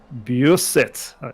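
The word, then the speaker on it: Beausset: oh this awful corner it was a beer set I believe it's pronounced that's a tricky corner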